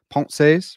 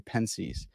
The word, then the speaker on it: Pensées: sedicus i'm your host and i know it's pronounced ponce's but i'm an american swine so i say pence's i have a really special guest with me